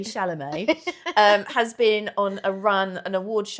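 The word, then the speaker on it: Chalamet: Someone called him Tim Shardney. It's like such a great name. Anyway, uh, now I've and now I've tricked my brain into thinking I don't know how to say it. Timothy Shalamé, um, has been on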